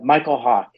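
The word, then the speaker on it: Mykel Hawke: But it's Michael Hawk, and it's spelled MykelHawke, but he's awesome.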